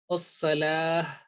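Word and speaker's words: الصلاة: Ta marbuta means when we are going to make a waqf on that one, this letter will change into ha sakina. So the pronunciation will be as-salah, ha will be manifested in a mute position.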